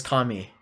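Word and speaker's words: 神: have like a lot of questions kami is pronounced kami i am saying it is kami what ame ame is not kami ame is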